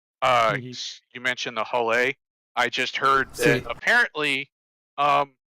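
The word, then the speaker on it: Hull A: uh i guess some some foreigners didn't realize it like there's a whole a b c d so because it's just the whole a that's out they've been calling it a holla yeah i figured that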